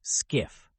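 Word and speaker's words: SCIF: Personnel working from a skiff sensitive compartmented information facility pronounced skiff see this visualization extreme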